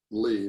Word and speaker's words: Leigh: Civil War, by Lee. My last name is spelled L-E-I-G-H.